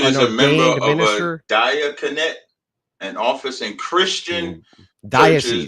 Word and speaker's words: diaconate: a member of a diaconate, an office in Christian diocese. That is it's a diocese. No, it's spelled Diaconate. I know how to read. Oh, that's a diaconate. Okay, it ain't diocese. which would be a diocese, but okay.